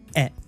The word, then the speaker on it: へ: So this e particle, written as he but pronounced as e, is used in Japanese to indicate direction or even destination.